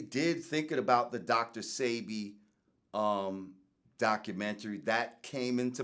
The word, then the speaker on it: Sebi: SEBI I know it's a baby seddie but it's pronounced say be okay thank you for correcting mm-hmm I was